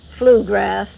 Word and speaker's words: Flugrath: Arthur Hopkins thought that the name flu grath which a lot of people can't seem to pronounce which is very funny to me because you can say McGrath very easily why not flugrath well he didn't think